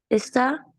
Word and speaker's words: está: Está. Excelente. Muy bien. Now, careful the pronunciation. Juan está. Juan Está en está. Virginia. Exactly. There's an accent mark to bring out that Juan está en Virginia.